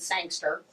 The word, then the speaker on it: Sangster: Marine Corps dude, Sergeant Sangster, rhymes with gangster, and he's gone.